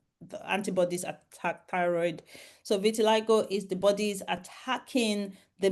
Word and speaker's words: vitiligo: Is it vitiligo? Yeah. Okay, is it genetic or can you get it? And what causes it? So vitiligo is an autoimmune condition.